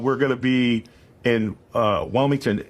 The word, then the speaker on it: Wilmington: But do you mean Wellington or Wilmington? Wilmington.